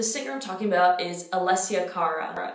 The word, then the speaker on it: Alessia Cara: Anyway, so the singer I'm talking about is Alessia Cara. If you applied Italian pronunciation rules to her name, you would get Alessia Cara.